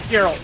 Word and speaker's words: Geralt: Geralt. You said Geralt. Geralt. I mispronounced that.